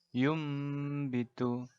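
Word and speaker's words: يُنبِتُ: Kata secara letterleks tulisannya yun bitu, tapi kita bacanya yum bitu.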